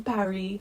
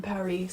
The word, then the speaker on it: Paris: indeed my emily in paris lookbook and by the way i'm saying that correctly netflix recently tweeted that emily in paris was supposed to be pronounced emily in paris so that it rhymes myself and so